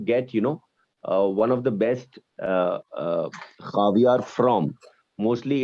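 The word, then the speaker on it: خاویار: And the last one, last but not the least, is called khavyar. Caviar. Egg. Caviar. Tuke mai. Khavyar. Caviar. खावियार. Bale. Khavyar. Caviar. Caviar. Caviar. First pronounce it carefully.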